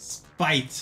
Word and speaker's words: SP8: And uh the name SP8, by the way, is pronounced Spite.